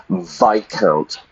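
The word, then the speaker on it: viscount: L of the late VI count weird pronunciation weird spelling how we say it some Co kind of nobility yeah vicount so what do we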